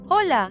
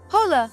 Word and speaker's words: hola: Hola, right. Hola, wrong. Hombre, right. Hombre. H is silent, always. No exceptions.